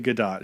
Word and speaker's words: Gadot: It's actually Gadot. She's actually pronounced it Gal Gadot.